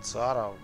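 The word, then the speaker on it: Ciara: Я буду произносить его никнейм с точки зрения английской грамматики. Правильно по произношению, по написанию. Короче, по правилам английского языка. Вступили в бой. Которые гласят, что C, буква C после буквы, стоящей перед I, Y, читается как именно как C, а не как K.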